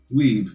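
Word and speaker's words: Wiebe: b e filthy weeb that's how Germans pronounce that spelling weeb that it's weeb technically like that makes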